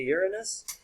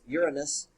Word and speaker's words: Uranus: uranus some people say uranus in terms of the mythological word that's derived from the roman god the proper pronunciation is uranus uh the more modern scientists and every everybody that says uranus that saying mostly came